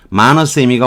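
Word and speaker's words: monosemy: 마너쌤이라고 하는 건데 M-O-N-O 우리말로 모노쌤, 세미가 시멘틱에서 나온 거죠. 마너쌤이가 원래 발음인데 이게 뭐 그냥 우리식으로 발음할게요. 이 모노세미는 책이 한 권 있어요.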